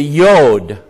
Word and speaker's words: yod: this yod here and the yode to the Hebrews has the yah sound but we're not Hebrews we're American English speakers and so to us it's a j and did God know